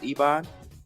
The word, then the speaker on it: Ebon: My next question, is it pronounced Ebon? Yes, perfect.